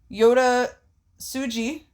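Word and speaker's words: Yota Tsuji: Lucha Bros and mystico defeating lij which was Yoda suji tan is how it's pronounced that was Titan tan and Takahashi by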